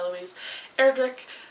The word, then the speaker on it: Louise Erdrich: this future help of the Living God by Louise Erdrich I think is how you say that and